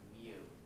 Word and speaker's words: mu: a little note right here the way you pronounce that is mu and if you have two of them then